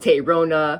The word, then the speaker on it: Tayrona: figure out how to how do I pronounce it yeah that's probably going to be an issue for some people I've received terona right that's how I said it which is fine but